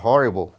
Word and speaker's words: horrible: A palavra horrible, certo? É representado pelo R. Ó. O R substitui o H na pronúncia, né?